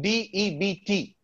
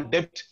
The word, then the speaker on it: debt: Many ask us this question, D-E-B-T, right? We don't call debt, we call it debt.